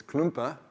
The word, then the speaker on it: Klumpe: It's Klumpe. It looks like Klump, but that's cool.